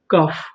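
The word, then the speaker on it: cough: सी ओ यू जी एच कफ।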